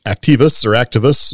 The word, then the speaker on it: Actavis: Now there's another one, Activis.